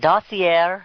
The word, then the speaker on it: dossier: the DNC paid for the, how do you pronounce it, dossier or dossier?